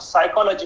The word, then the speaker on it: psychology: Spelling क्या लिखना है, PSYCHOLOGY, और पी को साइलेंट रखना है। उस पी को साइलेंट क्यों रखना है? तो हमें ये बता दिया कि ये साइलेंट शब्द है, इसका उच्चारण नहीं करना है।